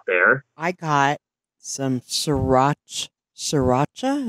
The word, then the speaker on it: sriracha: I got some sriracha sriracha is how you say it sriracha Oreos that's good